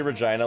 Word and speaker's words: Regina: There's a reason Regina rhymes with fun. Regina does rhyme with fun.